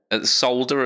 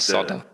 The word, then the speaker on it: solder: Solder as well. Solder. There's an L in there. Not solder. Solder.